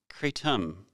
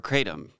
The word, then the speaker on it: kratom: Kratom, also pronounced as Kratom or Kratom.